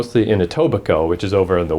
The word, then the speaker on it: Etobicoke: wouldn't have known that why would you not pronounce a K in a word and I'm very familiar because of French school with words that you just don't pronounce x's and stuff but I'm never seen I mean as presumably it's like a native word I guess but anyway